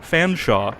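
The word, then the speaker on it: Featherstonehaugh: It was the surname for Fanshawe in the most ridiculously British way possible. Yeah, how do you spell it? Essentially Featherstone, but that's not how it's pronounced because who the fuck knows?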